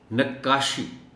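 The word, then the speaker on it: نقّاشی: ساتھ پڑھا جانا چاہیے۔ نقاشی، شد کا معاملہ ہے، کاف پر شد ہے اور شد کے ساتھ ہی اس کو پڑھا جانا چاہیے۔ جیسے خطاطی ہے، اسی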